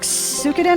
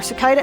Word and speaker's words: Suikoden: I always pronounce it Suikoden, but then again, but I guess it's Suikoden. Suikoden? Suikoden? Suikoden? Suikoden? I guess it's Suikoden or Suikoden. I guess it'll be Suikoden, because typically speaking, the Japanese language will preface the first syllable first. So instead of being katana, it's katana. You know, katana instead of katana, which is usually an English thing.